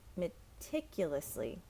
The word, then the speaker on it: meticulously: now we have meticulously so the emphasis is tip meticulously he cleaned the house